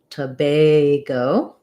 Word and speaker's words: Tobago: syllable stress letter a even though it looks like the word bag it's going to be pronounced with the a diphthong so it's going to sound like tobay go to bago um and